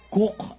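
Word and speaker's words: Coke: Hanapin nyo ang spelling ng Cook, Cook. Huwag nyo nang tanong kung sino nagko-cook. Pero Sir Edward Cook ang pag-pronounce yan.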